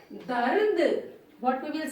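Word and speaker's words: दर्द: See, half ra is there. So it is on top of the letter. But in pronunciation it will come before the. So we will say dard.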